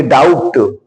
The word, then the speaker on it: doubt: भी साइलेंट होता है, दूसरा नियम क्या है कि बी के बाद अगर टी हो तो हमारा बी साइलेंट हो जाता है। जैसे देखिए DEBT, अगर इसको हम ध्यान नहीं देंगे तो इसको हम पढ़ेंगे डेप्ट। ये DOUBT, इसको पढ़ेंगे डाउट।